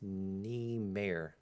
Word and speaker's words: Niemeier: But Świątek and NIEMEIER, like John Mayer. No, it's NIEMEIER.